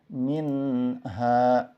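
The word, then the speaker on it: منها: depannya ada huruf H maka cara bacanya adalah dijelaskan minha yang kelima Contohnya seperti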